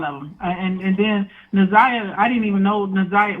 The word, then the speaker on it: NaZiyah: She was like, "It's pronounced Naziah."